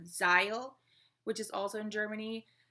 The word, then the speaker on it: Zeil: It's close to the main shopping area called Zeil, which is also in Germany. I'm pronouncing it in English, but in German it would be Zeil.